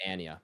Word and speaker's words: Anya: interview with her and she pronounced her name Anya Anya really it's it's Ania uh we've been wrong